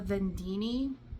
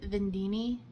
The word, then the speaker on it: vendeeni: This is the vendeeni. I think that's how you say it, vendeeni. It's gotta be, that's the way I've heard everyone say it, is vendeeni.